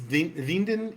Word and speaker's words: Winden: I think it's a fictional town, Winden, or Winden, if you're going to say it like I say Mount Diablo. It's Winden in Germany.